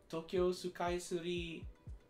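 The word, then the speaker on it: 東京スカイツリー: Sky Tree Tokyo skytrainage Tokyo sukai Suri oh that's how you say it that's how you phonetically say Sky Tree Tokyo Sky Tree I'm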